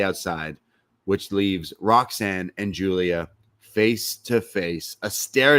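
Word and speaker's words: Giulia: comes nxt's newest sigy Julia Julia gulia is it just me or does she spell it weird it's g i u l i a it's the Italian Julia Italian Julia yeah Julia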